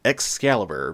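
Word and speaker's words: X-Caliber: a little bit weird excalibur because it's spelled x dash caliber or sometimes just the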